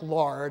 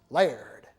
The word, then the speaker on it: Lard: this is a Moses layer that looks like lard I know but the family that continues to live in Nashville says know that we're Scottish it's pronounced layered okay it's kind of like the woman on